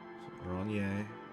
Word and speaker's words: Oranje: Oranje. Classier. Okay, so J-E is yay.